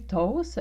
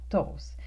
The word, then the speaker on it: toast: Prononcé toast, on ne prononce pas le T final, donc toast, des toasts.